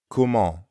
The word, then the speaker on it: comment: Comment ends in the nasal sound en. To pronounce that sound, first say ah while dropping your jaw a bit. At the same time, try not to push air through your nose.